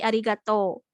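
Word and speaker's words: ありがとう: dilanjut ke materi selanjutnya Nah kalau misalkan di akhir kata juga sama dibacanya panjang contohnya sebentar ya contohnya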